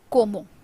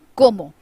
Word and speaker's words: como: The next one is como. C sounds pronounced. C makes a sound of k in Spanish, so it is como.